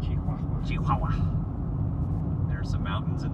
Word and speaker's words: Chihuahua: That's pronounced Chihuahua.